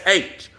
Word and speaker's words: Kush: went over to Ethiopia, and in Hebrew, it's Kush. See, and they pronounce it Koosh.